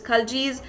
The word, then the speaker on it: Khalji: There's a little differentiation in the pronunciation. Some say it is Khaljis, some say it is Khiljis.